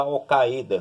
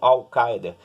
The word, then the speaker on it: Al-Qaeda: E dentro desse contexto, você vai analisar a guerra do terrorismo e o papel da Al-Qaeda, né? Ou Al-Qaeda, né? Tem essas duas pronúncias com relação a isso.